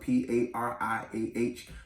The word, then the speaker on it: pariah: which basically means outcast it's spelled p-a-r-i-a-h pariah it sounds like the name mariah but it's pariah it means outcast so